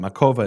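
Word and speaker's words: Makowa: community in a place called makova that's how the Jews pronounce it makova in Poland he says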